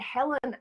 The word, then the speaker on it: Helen: pronounce the agent yes in Yorkshire we don't pronounce the H so everyone would call me Ellen I called myself Ellen